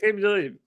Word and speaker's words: Aqib Talib: Aqib Talib.